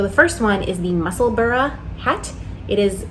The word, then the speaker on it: Musselburgh: So the first one is the Musselburgh hat. It is spelled like Musselburgh, but it is pronounced Musselburgh, like Edinburgh.